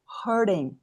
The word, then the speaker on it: hurting: Aqui eu coloquei esse T aqui, ó, com um som de um D. Hurding. Hurding. Coloquei esse D aqui, ó. Então, hurding.